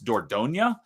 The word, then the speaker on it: Dordogne: D O R D O G N E, but it's French, so it's Dordonia, and it's the name of a river.